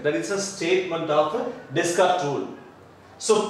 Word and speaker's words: Descartes: So, yes is silent, suppose yes, so the yes is silent answer, Descartes rule. So, the mathematical word, Descartes rule, that is the normal word. So, yes, then yes is silent, Descartes rule.